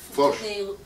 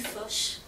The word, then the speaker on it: Foch: How do you pronounce it? Foch. Avenue Foch.